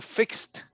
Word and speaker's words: fixed: say fix the or fixed uh oh fix it i'm sorry the pronunciation goes with t fixed fixed i think yeah